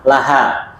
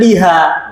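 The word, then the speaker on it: لها: faedah baru bisa diingat asalnya bacanya Li ya kecuali bersambung dengan kata ganti maka bacanya la ya tadi kanitu P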